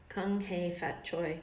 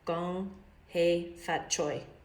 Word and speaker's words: Kung Hei Fat Choi: Kung Hei Fat Choi, pronounced, oh, see, I did it wrong. Gong Hei Fat Choi.